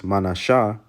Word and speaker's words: Manasseh: Then you have Manasseh, which in the Hebrew is Manashah.